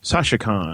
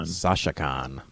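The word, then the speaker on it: Sashacon: mu uh it's called let me say it right sasikan sasikan uh kind of like the singer but uh spelled s a s h a c o n and they're going to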